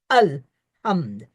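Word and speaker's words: الحمد: pronounce this Allah Allah it is not Allah it's simply short alham and ham the word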